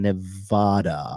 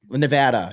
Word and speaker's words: Nevada: do believe Arizona and Nevada are swing stat NADA Nevada Nevada is that how you say Nevada yeah you always say Nevada look look I'm officially